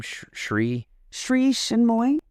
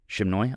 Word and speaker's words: Sri Chinmoy: Sri Chinmoy. Shimnoy?